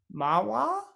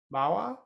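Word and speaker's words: manhwa: as i understand is actually pronounced mahwah i i could be getting m a m-a-n-h-w-a mower sort of yeah i i think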